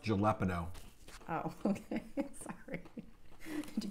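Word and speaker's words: jalapeño: a state native pepper it's pronounced jalapeno oh okay sorry did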